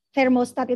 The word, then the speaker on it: thermostat: kata-katanya thermostat Hai fermo diawali dengan bunyi huruf t dan ha nah cara pengucapan yang betul adalah lidah kalian diletakkan ujung lidah bagian depan diletakkan diantara jadi depan atas gigi depan bawah tapi jangan sampai kegigit ya kita ulangi sekali lagi